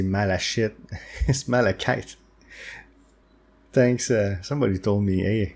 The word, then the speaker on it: malachite: It's malachite. Thanks, somebody told me, hey, you pronounce it incorrectly.